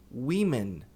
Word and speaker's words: women: Mas a pronúncia não tem nada a ver com homem e homens. Então, singular é woman, mulher, e plural mulheres, women.